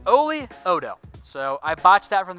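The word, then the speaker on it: Oli Udoh: It's Oli Odo.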